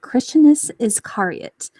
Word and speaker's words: Christianus Iscariot: Today we are here with Christianus Iscariot. Did I pronounce that right?